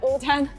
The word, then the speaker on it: 无糖: And so actually your ID is pronounced as Wu-Tang in China.